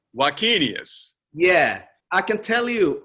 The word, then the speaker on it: Wakenius: name the same way how do you pronounce your last name right and my name is ulf vacchinius vakinius yeah i can tell